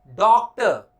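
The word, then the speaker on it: doctor: भाई चलो थोड़ा डॉक्टर से दिखाना है, डॉक्टर ना कि डॉक्टर। और इवन डॉक्टर तो कहीं से नहीं है, डॉक्टर तो खैर कतई नहीं।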